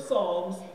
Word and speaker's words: Psalms: There's a P. But the P is silent. Oh. So we don't say it. Okay, so we're in the book of Psalms, chapter 77.